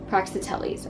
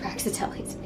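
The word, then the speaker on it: Praxiteles: gallery he saw the fawn of praxitelis i hope it's pronounced praxitellis uh he was he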